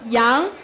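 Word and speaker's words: 羊: Because in Chinese, it is one single character pronounced as yang that represents all.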